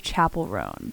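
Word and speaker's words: Chappell Roan: pronounce it believe the I believe Chapel rone is the Like official but all my friends were saying Chappelle for so long and I was like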